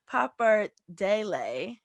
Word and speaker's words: pappardelle: The short rib pappardelle. Did I say it right? You did.